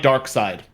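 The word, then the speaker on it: Darkseid: Sid all right pronunciation it's literally pronounced like dark side yeah right wow no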